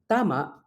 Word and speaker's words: tama: on the final syllable vowel length is the best indicator of primary stress for instance Tama which means correct contrast with t to hit where the stress and vowel length differentiate the two words the uness vowels